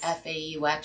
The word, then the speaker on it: faux: She goes, spell it. I'm like, F-A-U-X. She goes, you mean faux? I'm like, is it faux? F-O-E?